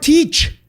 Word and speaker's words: Teach: Edward Teach. Es Thatch, güey. Teach. Es T-H-A-T-C-H. Se pronuncia Teach.